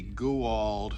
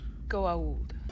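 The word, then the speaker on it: Goa'uld: so far on february and to determine the goo old threat excuse me senator i'm sorry there should be an apostrophe after the a before the u it's pronounced go old oh many have said that but you are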